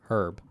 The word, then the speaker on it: herb: in the past and herb is not something I will ever change my pronunciation of pronounce that herb and I will not be saying herb because the H is silent I will take that